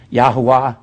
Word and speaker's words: Yahweh: Jehovah, or Yahweh, however you want to pronounce that, I don't really care. Y-E-H-O-W-A-H. Yahweh.